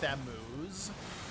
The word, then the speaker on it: Thamuz: It was spelled Thamuz, but pronounced Thamu.